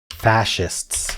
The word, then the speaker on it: fascist: Fascists. Oh my gosh. I was pronouncing it wrong. Fascist.